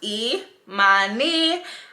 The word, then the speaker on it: Imani: some basic information so my name is imani pronounced e my knee and i live in